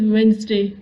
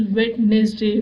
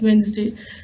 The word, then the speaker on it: Wednesday: The correct pronunciation is Wednesday, but whenever we read it, we feel like it is Wednesday, but the pronunciation actually is Wednesday.